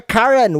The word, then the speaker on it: Curran: our special guest for today's episode is Karen welcome to the show thanks Jan it's